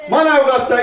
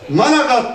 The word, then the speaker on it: Manavgat: ediyorum ve Allah'ın izniyle Manavgat'ta işsiz ve aş bırakmayacak Biz turistlerin deyimiyle telaffuzu zor olduğu için biliyorsunuz turistler Manavgat diyemez managat derler manatı Allah'ın izniyle 5